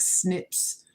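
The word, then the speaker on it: SNP: um only you know you I can only do but so much genetic snips um explain simply think of your DNA as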